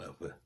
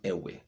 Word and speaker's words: Ewe: I'm not Ayigbe. I'm Ewe. I'm not Ewe. I'm Ewe.